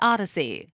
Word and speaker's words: OHDSI: sciences and informatics or ohdsi pronounced odyssey they define the standard